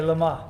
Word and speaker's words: Le Mans: I think the French way, Le Mans.